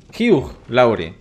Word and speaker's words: Hugh Lowry: Hugh Lowry. Así es como se pronuncia.